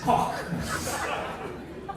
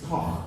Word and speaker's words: Koch: Don't worry, his name is Koch. It's Koch.